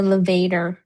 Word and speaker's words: levator: It's called a levator. Scapula sounds like elevator.